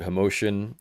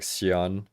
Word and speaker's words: Hoxian: Uh some people would pronounce it Hosian. Um in Chinese it sounds more like Shian cuz it's like I don't know Mandarin, right?